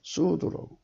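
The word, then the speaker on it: צוד: 귀한 사냥인데 거기에 사냥의 원어가 추드예요. 추드. 발음은 수드라고 하더라고요. 이분들은 이게 추인데, 이거는 이 T자 발음 안 하고 그냥 수드로, 수 발음으로 하더라고요.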